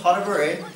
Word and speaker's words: pas de bourrée: Why don't you guys try to pronounce that? Pastebri. Pastebri. Oh, that's pretty good, right? So it's called a pas de bourrée.